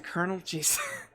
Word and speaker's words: colonel: His warnings to Colonel Jason... Colonel's spelled like popcorn Colonel, but with a C instead of a K.